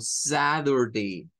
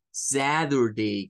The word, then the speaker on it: Saturday: una d o sea cambia el sonido de la t por un sonido como una d y otros nos lo van a hacer como una r entonces son dos pronunciaciones que pueden haber Y esto es repito solamente aplicado a el inglés americano entonces puede ser que usted escuche a un norteamericano decir el día sábado como Saturday Saturday con ese zad Saturday